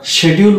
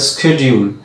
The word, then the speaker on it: schedule: তো ব্রিটিশরা শেডিউল উচ্চারণ করে থাকে এবং এটা একটা পারফেক্ট উচ্চারণ, কিন্তু আমেরিকানরা করে স্কেডিউল।